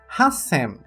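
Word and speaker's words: 八千: pronúncia para Z e para o número 8000 hassem hassem o qual cont a pronúncia do Sam mas o hati é tirada a leitura ti e acrescentado tiu indicando a pausa nos casos de 6000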